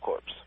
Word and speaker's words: Corps: Okay, me and my friend are joining Job Corps, and they have mandatory drug tests. It's Corps, by the way, like Marine Corps. No, it's Corps. Like a dead body. C-O-R-P-S-E? C-O-R-P-S. That's core. That's core. Pronounced core.